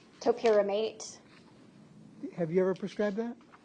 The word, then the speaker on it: topiramate: Was she prescribed torpiramate? Yes. How do you say that? Topiramate.